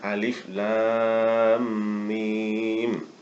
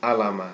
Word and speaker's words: الم: Jadi bacanya alif lam mim, bukan alama, tapi alif lam mim, disebutkan hurufnya. Dan cara membacanya pun harus sesuai.